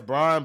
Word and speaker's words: Braun: say so and then and then they got Braun coming up you got to pay Braun oh Brown I'm like damn they got LeBron I'm like what they got it's it's pronounced it says brown but it's pronounced Brown I don't know why they spelled